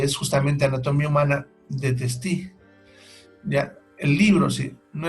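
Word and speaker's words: Testut: que por si acaso en los libros se escribe Testú, pero se lee Testi.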